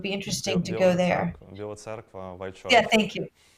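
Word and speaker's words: Біла Церква: Biela Terskev, I believe it's called White Church, south of Kiev. Yeah, so it would be interesting to go there. Biela Cerkva, White Church.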